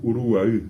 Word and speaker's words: Uruguay: Caribe hasta el Uruguay, que bien pronunciado todavía es Uruguay.